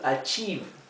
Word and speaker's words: achieve: To achieve. Achieve. Fíjense que esta combinación de letras, la I con la E, se pronuncia I, una I larga.